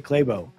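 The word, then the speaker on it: Clabough: right near the end I would understand it if I pronounce it because I say claybo but that's why I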